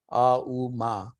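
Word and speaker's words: ॐ: Out of which comes out A-U-Ma. A-U-Ma is the break of the syllables out of Om, and A-U-Ma, if you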